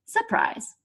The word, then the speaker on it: surprise: for a mouse so in English people started dropping the first R sound in the word surprise and now we just say surprise there's another word just